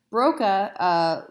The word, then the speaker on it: Broca: no trying to keep Broca's area and Wernicke's area straight the trick I like to teach students is that Broca sounds like the word bokeh in Spanish what does bokeh mean